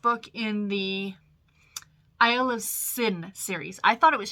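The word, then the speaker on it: Synne: in the isle of sin series i thought it was schnee s n y no s y n n e but it's pronounced sin because i was listening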